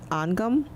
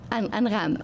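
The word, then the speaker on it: أنغام: I don't know how to pronounce her name properly. Angam? Angham.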